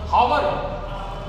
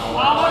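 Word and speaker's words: hour: लगाओगे कि ए ए इसको पढ़ते क्या है हावर अरे इंग्लिश बड़ी कंफ्यूज करती है भैया आवर पढ़ते हैं इसको ए साइलेंट मानते हैं और अगर इसको एज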